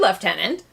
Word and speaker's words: lieutenant: for ie you get well it comes into English from the French obviously but imagine pronouncing it with like a very thick English accent while chopping on a cigar and maybe you can get halfway to left yeah for our listeners